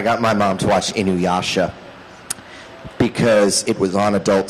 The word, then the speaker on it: Inuyasha: Inukasha? Something like that? Inukashi? It's Inuyasha, Mom.